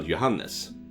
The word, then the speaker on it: Johannes: guess we can send johans to help you out Johannes is that how you say it in the English johans I mean in Swedish you uh pronounce the e as well Johannes Johannes I would yeah